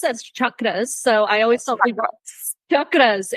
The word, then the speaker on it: chakras: so it's pronounced as chakras so I always chakras it's um actually so that's actually how it's pronounced um I always tell people it's like Chuck Norris and I'm creating a